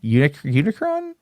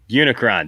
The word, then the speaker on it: Unicron: No, it's not Omicron. It's no. Unicron. Unicron. There you go.